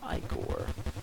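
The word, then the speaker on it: ichor: feel it with magical iore that's pronounced iore choose your I core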